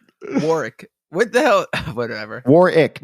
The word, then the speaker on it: Warwick: what the hell whatever War ick not Warwick Warwick you know how